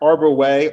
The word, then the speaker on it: Arbouet: do people say arbuette people say arbor wet arbor way arbor way is the most common pronunciation of argaway and i don't mind it